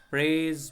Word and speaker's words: prayeth: Students, the th is pronounced as s. In the Old English, s in place of s they used th. So we'll not study it as, will not read it as prayeth. It will be pronounced as prays best, who loves best.